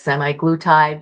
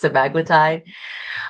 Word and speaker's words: semaglutide: Some people say it is semi-glutide, but I think the correct pronunciation is semaglutide.